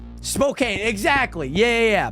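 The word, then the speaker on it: Spokane: know what I'm saying spok Kane exactly yeah yeah yeah people pronounce it like SPO SPO and then cane c a n e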